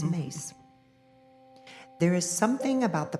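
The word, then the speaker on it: Myss: It looks like Miss, but it's Mace.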